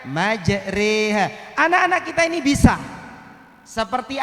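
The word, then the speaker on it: مجراها: Nah Kak Dinto Ustadz, Gharaibul Quran itu Bapak Ibu ditulisan dan cara bacananya tidak sama. Bersitung materinya mana Bu itu lesan Kak Disa Bapak Ibu majroha, tapi cara bacanya majreha.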